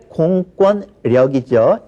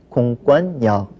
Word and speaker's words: 공권력: 자, 원래 공권력이죠. 이거는 공권력 이렇게 발음하는 사람들 사실 제가 주의해서 많이 봤습니다. 하지만 공권이라는 거 자체가 자립해서 쓸 수 있는 말이기 때문에 이것을 교체하는 것을 그 화자들이 되게 꺼려하죠. 그러면 뭘 바꾸느냐? 뒤에 오는 역을 차라리 바꾸는 거죠. 그래서이 경우에는 공권력이 아닌 공권역 자 이렇게 발음을 하는 겁니다.